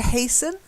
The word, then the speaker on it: hasten: stuff the next one silent T to hasten hastened patient okay good and